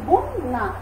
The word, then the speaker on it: বন্যা: যকারযুক্ত ব্যঞ্জন বর্ণ থাকলে, শব্দের শুরুতে যদি অ থাকে এবং তারপরে যদি যকারযুক্ত ব্যঞ্জন বর্ণ থাকে, তাহলে সেই অ এর উচ্চারণ অ এর মতো না হয়ে কিসের মতো হয়ে যাবে?